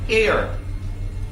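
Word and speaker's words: heir: Humiliation I mean hindi ka magkaroon ng air. Hindi po yung a I r air W hindi W H E I R Air with a silent H.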